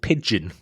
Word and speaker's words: Pijn: It's a band called Pigeon, which is spelled Pijn, because all bands have stupid spellings now because of Google course ruined the world.